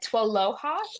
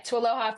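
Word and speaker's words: TWLOHA: But Tualoha is a bit how we pronounce that acronym.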